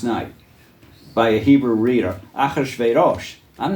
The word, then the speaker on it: Achashverosh: Now it came to pass in the days of Achashverosh. This is Achashverosh. By the way, that's how we pronounced it as kids in Hebrew school, not this Ahasuerus bit. Say it again for me. Achashverosh.